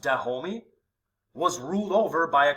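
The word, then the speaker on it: Dahomey: several state building enterprises the kingdom of da homie so it's pronounced de homie was ruled over by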